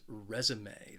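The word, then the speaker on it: résumé: the next word is resume this word has three syllables and the stress is on that first syllable so i'm talking about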